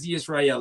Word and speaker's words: Hezzy Ysrayl: is fine um yes he Israel is exactly how you could pronounce my name thank you so much HEI Israel okay all right so